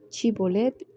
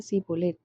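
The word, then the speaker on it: Shibolet: Si él respondía: no, entonces le decía: ahora pues di Chibolet. Y él decía Sibolet, porque no podía pronunciarlo correctamente. Entonces le echaban mano y le degollaban junto a los vados del Jordán.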